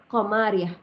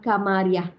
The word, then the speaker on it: qamariah: panggil dia alif lam qamariah ataupun kalau dah terbiasa sebut alif lam Kamariah boleh je kam tapi sebenarnya ejaan dia ka sebenarnya betulkanlah ejaan tu ya alif lam qamariah